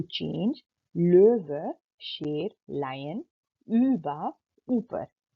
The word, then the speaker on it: Löwe: इसी तरह ओ के ऊपर दो डॉट्स हैं, तो इसको आपने ओ नहीं प्रोनाउंस करना, यानी कि आपने करना है ö, यानी जैसे कि द वर्ड löwe के अंदर löwe, आप लोव नहीं बोलेंगे, आप बोलेंगे löwe।